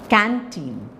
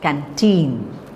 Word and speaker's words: canteen: okay ago attend canteen so it's not canteen it's canteen canteen contain evade forget it's